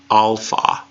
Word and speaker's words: alpha: and it sounds like the AH and father alpha alpha alpha alpha yeah there is no app and has sound angry so they can't say caps or cap or anything like that there is no app